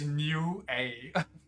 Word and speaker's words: Nioh: Pronounced Nioh.